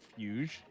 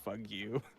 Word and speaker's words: fugue: in their game is called fugue, F-U-G-U-E. And so when you read it phonetically, it looks like you're saying "fug you."